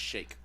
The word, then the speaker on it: Sheik: I think it's pronounced Shake.